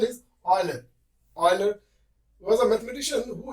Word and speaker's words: Euler: We call it as Euler, right? He introduced our number, right? In the 16th century, there was a mathematician called Euler, right? We write this as Euler, but then its pronunciation is Euler.